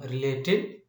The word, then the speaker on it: related: the root word and this root word has the stress on late and by adding edi where is the stress and by adding edi we can form related and on this board also the stress is on the same syllable that is late understand let us see